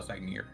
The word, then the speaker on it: Sagnir: How do you spell Sagnir?